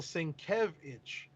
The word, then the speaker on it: Sienkiewicz: Oh, pronounce his name the right way on his front page. It says Bill Sienkiewicz.